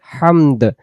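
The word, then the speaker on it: حمد: আর আরবিতে যখন হামদ পড়বো, তখন এই দাল অক্ষর উচ্চারণ হবে। আপনি যদি রব্বানা লাকাল হামদু পড়েন, তাও শুদ্ধ হবে, দাল তো হইল। এখন সহি উচ্চারণ হলো দম ছেড়ে দিলে আওয়াজ শেষে জবরের পেশ বাদ যায়, এজন্য হামদ বলতে হয়।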